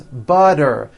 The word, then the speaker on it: butter: And butter becomes butter.